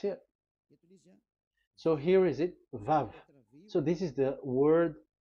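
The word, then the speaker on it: ו: So it's V as in Vogue. So it's really V. How to read Vogue? So the word, the shape Vav is really pronounced V, like Vogue. That is it, pronunciation. So here in this side, it's pronunciation. This is pronunciation. So according to the old Hebrew word today, those who, the owner of the words, I mean, so it's a V. So don't change it into W, and you will say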